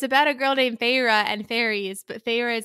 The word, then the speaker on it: Feyre: to the spelling because her main character is named pharah okay pharah is our 19 year old 19 year old gal and it's and it's spelled f-e-y-r-e and I only know it was pharah because I listened to